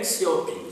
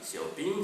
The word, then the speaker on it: Xiaoping: peut-être, non, donc Deng Xiaoping, ça s'écrit D-E-N-G, et Xiaoping, ça ne se prononce pas tout à fait comme ça, mais je préfère le prononcer comme ça, Xiaoping c'est X-I-A-O-P-I-N-G.